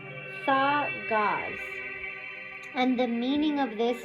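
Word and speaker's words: Dagaz: Oh, it's pronounced thaw gauze.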